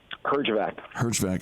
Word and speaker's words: Herjavec: Well, it's wonderful, and I apologize for the mispronunciation of your name. Give it to me one more time. Herjavec.